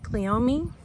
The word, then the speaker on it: Cleome: But you can see where I've put in this spider flower, or Cleome is what people are telling me to pronounce it as.